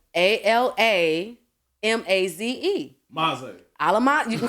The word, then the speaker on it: Alamaze: like mine are complicated, African names are usually spelled exactly how you say it. Yeah. It's not complicated. It's the Quanishas that get you messed up. Okay? Yeah. So Alamaze is spelled ALAMAZE.